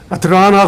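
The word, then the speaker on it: Atlanta: 아틀란타 지역이 발음을 잘못하면 아틀라나 그러는데 한국 사람들은 아틀란타 그러더라고요. 미국 사람들이 아틀란타 그러니까 아틀라나?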